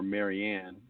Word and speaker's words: Mirjana: You see her picture all the time, Mirjana, or it would be pronounced more Marianne, but Mirjana Soldo, I think is her name now.